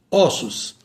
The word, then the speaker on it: ossos: Osso, ossos. Destroço, destroços. Imposto, impostos. Isso aqui chama-se plural metafônico. Quando a palavra está no singular, o permanece com timbre fechado. Quando está no plural, passa para o timbre aberto.